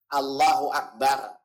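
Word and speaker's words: الله أكبر: Perhatikan lafaz takbirnya jangan sampai salah. Allahu Akbar. Lafzul jalalah cuma 2 nafas. Matnya cuma 2. Jangan Allah dari Rawamangun ke Selipi. Itu kepanjangan, kelamaan.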